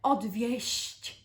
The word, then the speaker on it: odwieść: And remember that the one that is softer in pronunciation, the odwieść, is the one that is dissuading someone, and the one that's